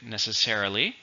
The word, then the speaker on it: necessarily: often say not necessarily it's an adverb and it has five syllables stress in the first so look here that's